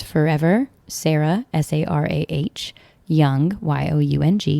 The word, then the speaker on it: Young: I am Sarah on Instagram, and I am Sarah Young, spelled with an H. The H is silent, and Young, as in forever young.